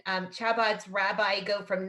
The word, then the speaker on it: Chabad: Just, Jean Marie, it's Chabad, like the phlegm in your throat, like with Rakhel, but more you know, we're learning.